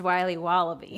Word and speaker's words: Wiley Wallaby: Wiley's wallabies wallaby Wally's will be wobba beats pronounced Wiley wallaby well it's very good called Wiley wallaby and